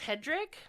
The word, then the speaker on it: Hedrick: oh no it's Hedrick huh it's hedri it's pronounced Hedrick h e d r i c k no